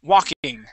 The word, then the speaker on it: walking: word is walking okay I sounded like I heard a little bit of an L in there so we want to make we want to say w w King walking walking good without that L there that L is silent okay walking walking yep